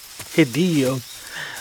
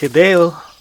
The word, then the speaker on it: Hideo: it like japanese characters everyone calls him hideo hidio but i think it's hideo but everyone pronounces his